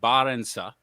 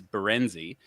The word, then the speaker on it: Barensa: So it's actually Barensa. That's the Dutch. It's Barensa. The bastardized version of it is Berenzi.